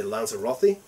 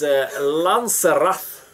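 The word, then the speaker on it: Lanzerath: I'm sort of psyched to know the rules in the, how do you say, Lanzarote? No, not the Lanzarote. How do you say it? It's Lanzarath. Lanzarath, the Lanzarath Ridge.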